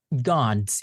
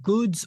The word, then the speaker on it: gods: Gods, it's not goods or goods, it's g a a gods gods.